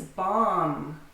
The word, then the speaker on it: bomb: The first word is bomb. To bomb or a bomb. Notice which B is silent.